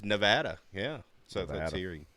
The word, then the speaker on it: Nevada: It is pronounce Nevada. It. Gotcha. It's Nevada.